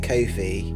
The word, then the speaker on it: Ko-fi: We've also got a coffee now. Ko-fi, how do you pronounce it? Coffee? People pronounce it Ko-fi. Yeah, but it's supposed to be about buying you a coffee, isn't it?